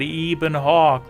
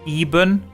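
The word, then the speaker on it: Ebon Hawk: and whatever you do please don't call it even Hawk like the official Eben Eben but he says even I pronounce everything the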